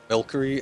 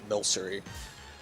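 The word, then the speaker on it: Milcery: not just winging it hate when people pronounce milkery instead of pronouncing it milser yeah which I get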